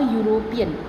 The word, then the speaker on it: European: When there is singular noun, at that time also we use a, which starts with E/U but pronounced as U. For example, a European, a university.